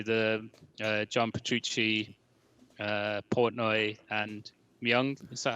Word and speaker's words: Myung: Yeah, but they were started up by the John Petrucci, Portnoy, and Myung. Is that how you pronounce it? Yeah, Myung, the bassist.